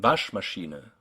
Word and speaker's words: Waschmaschine: Words like Wegweiser and Waschmaschine, words that have one main stress, say wasch, and one or more secondary stresses, like the E sound in Maschine.